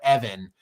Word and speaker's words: Evan: you told me that your name is not pronounced Ivan it's more Evan uh with with an E.